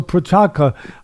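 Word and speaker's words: Procházka: why you got these names all right so prachaka am i saying it right now for chaka yeah all right so prachaka um next time i come over i want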